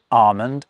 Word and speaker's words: almond: It's during the early modern English period that certain L's become silent, like in folk, but also in almond and in palm.